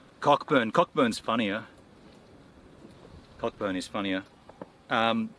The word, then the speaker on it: Cockburn: the town is called cockburn cockburn it's spelled cockburn put you up to that but it's spelled Co apparently it's said Coburn and um yeah who uh